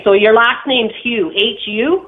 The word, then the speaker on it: Hu: your last name's hugh hu no it's not hugh that would be h-u-e mine's just hu that's what i just